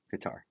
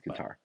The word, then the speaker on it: Qatar: Can't pronounce that country. It's I think Qar. Um, I think it's Qar, you know, like one of our family members lived there, so I think it's Qar.